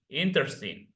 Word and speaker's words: interesting: the moment of writing but at the moment of pronouncing the word you say in interesting inter only three syllables of pronunciation listen